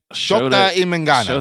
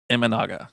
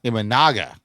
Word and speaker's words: Imanaga: Did I say his name right? Imangana. Shota Imanaga. Imanaga. I think I reversed the N and the M there.